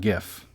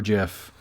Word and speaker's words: GIF: speech to say quote it's pronounced jif not gif end quote boom case